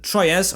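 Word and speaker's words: Troyes: clermont who were unbeaten troyez or trio i think it's pronounced then a team that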